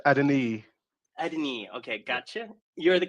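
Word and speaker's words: Adeniyi: Um, so we have Anady. Uh, am I pronouncing that right? It's Adini.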